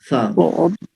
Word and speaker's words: ث: اس کا تلفظ یہ ہے کہ وہ جو سین اور صاد تھے اس میں ایک سیٹی کی آواز تھی, سا سو, لیکن یہ جو تیسرا حرف ہے, حرف ثا ہے, اس میں سیٹی کی آواز نہیں ہے.